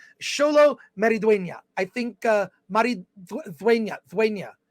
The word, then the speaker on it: Maridueña: Maridueña. I took 2 years of Spanish in college. I can at least pronounce Xolo Maridueña. I think Maridueña. The D is pronounced like a TH sometimes there.